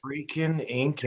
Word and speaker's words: Frickin' Incan: I want to make sure I pronounce this right. Frickin' Incan.